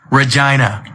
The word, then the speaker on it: Regina: Regina. That's right. It's the city that rhymes with fun.